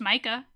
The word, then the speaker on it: Micah: We could just say that this is pronounced Micah, because I like that.